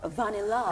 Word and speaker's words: Vanilla: Vanilla. It's spelled Vanilla, but it's pronounced Vanilla.